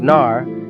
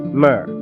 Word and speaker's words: Narmer: of two such symbols a catfish pronounced Nar and a chisel pronounced my these two signs are